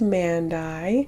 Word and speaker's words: Mandie: And it's spelled Mandie, but it sounds like Mandie, which is really funny because I just looked it up.